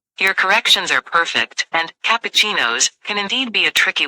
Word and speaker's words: cappuccino: you've got it right it's cappuccinos it's an Italian word so it can be tricky if you break it down it's pronounced like kuchi no keep practicing and it'll